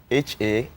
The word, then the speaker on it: Hakkunde: But the title is HAKKUNDE. That's HAKKUNDE. HAKKUNDE. So it's the pronunciation of the Hausa guy.